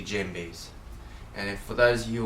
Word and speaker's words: djembe: to you guys about dead Jim B's you don't actually pronounce the D so it's actually Jim B's and if for those